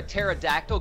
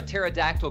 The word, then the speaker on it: pterodactyl: can't you hear a pterodactyl go to the bathroom? Why? This is for the good spellers out there. Why can't you hear a pterodactyl go to the bathroom? Why? Because the P is silent.